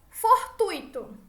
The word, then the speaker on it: fortuito: Com a tonicidade da palavra tuito, certo? A sílaba tônica tuito mais forte.